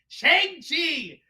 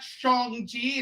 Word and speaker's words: Shang-Chi: It's Shang-Chi! That's it! Not Shang-Chi. It's not S-H-O-N-G. It's Shang-Chi!